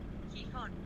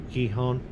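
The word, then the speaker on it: Gijón: A soft G, Gijon. Now. Oh, there you go. Like Mark the... just said, in Spanish, most J's are pronounced as a H.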